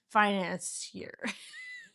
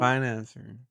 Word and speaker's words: financier: He was a financier. How do you say it? Finan- I'm sorry. Ow! How do you say it? Financer.